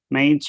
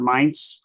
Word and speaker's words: Mainz: I didn't have time to really look up, but this is the one in Mainz or Mainz, depending how you want to pronounce it.